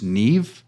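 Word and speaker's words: Niamh: But there's a girl on there, her name is Neve, but it's spelled Niamgh, I believe.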